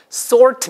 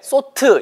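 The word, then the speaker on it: sort: 분투 지치 정확하게 모르시는 분들도 있어요 자 보세요 쏠트 미라 절대 소트 이 거 아니에요 가회 듯이 쏠 5 발음 5 입술 동아 키 모아서 알바를 살리지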